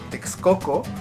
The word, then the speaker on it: Texcoco: El siguiente locativo es co, y lo podemos encontrar en palabras como Texcoco, que es la forma correcta de pronunciar Texcoco, o en Huexotzinco.